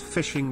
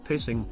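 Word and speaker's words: phishing: h i n g it's pronounced fishing not pissing pepe laugh uh in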